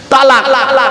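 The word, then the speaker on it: طلاق: শব্দটা কিন্তু তালাক নয়, শিখে যান আজকে। শব্দটা তালাক নয়, শব্দটা হলো কি? তলাক। কি বললাম? তলাক। চলুন দেখি তলাক শব্দের অর্থ কি আর তালাক শব্দের অর্থ কি। আরবি উচ্চারণ কি? তোয়েল আমালিফ কফ, তলাক।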